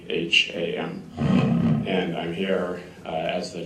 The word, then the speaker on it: Lapham: My name is Lapham, and it's Lapham. And I'm here as the General Counsel for Rover. And thank you for the opportunity to talk this morning, so I appreciate the invitation. Mr. Lapham, are you from a law firm?